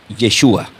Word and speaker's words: Yeshua: Así le dirían en el del griego le souus, pero del hebreo se diría Yeshua.